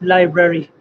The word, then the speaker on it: LBRY: that is right uh richard uh yes it's pronounced library library so can you explain us briefly